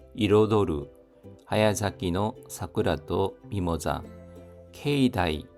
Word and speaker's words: 境内: 케이다이 발음에 주의해 주십시오. 케이나이가 아니라 케이다이입니다. 케이다이.